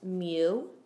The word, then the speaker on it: mu: M which is pronounced Mew kind of like you're saying the word music but you just stop at the beginning me and this is